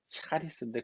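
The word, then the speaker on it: χάρις: 원래는 이제 카리스가 아니라 샤리스라고 해야 맞아요. 이게 발음이. 샤리스인데 그냥 한국말로는 샤를 쓰기가 어렵기 때문에 카리스라고 쓰는데 이건 무슨 뜻이냐면 뒤에가 뭘까요?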